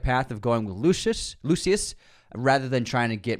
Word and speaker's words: Lucius: I think they chose the right path of going with Lucius, rather than trying to get Maximus back, which